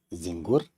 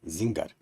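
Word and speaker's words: Bötzinger: it is right but it is not zingur it is but Zinger and for complex we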